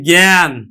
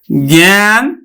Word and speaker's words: জ্ঞান: আমরা যদি জ্ঞানটা উচ্চারণ করি। হ্যা যদি আমরা এই জ্ঞান জ্ঞান যদি উচ্চারণ আমরা করি তখন কিন্তু আমরা উচ্চারণ করি গজফল আকার দন্তন হস জ্ঞান আমরা কিন্তু এইভাবে উচ্চারণ করি জ্ঞান তার মানে এই আটা এ এর মত উচ্চারণ হচ্ছে তারমানে উচ্চারণ আমার শব্দটা